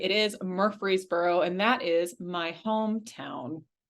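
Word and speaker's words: Murfreesboro: an introduction and uh yes car you did pronounce that correctly it is Murphreesboro and that is my hometown what where up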